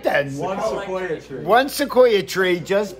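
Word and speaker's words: Sikoa: fashion okay as solo seoa just what's his name solo like the tree I said it right then one sequa tree one Sequoia tree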